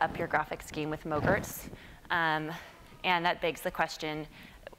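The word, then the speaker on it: MOGRT: not frozen yogurt but it rhymes with yogurt at least that's how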